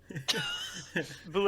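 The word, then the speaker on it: Bulette: It's like bullet, but the T is silent.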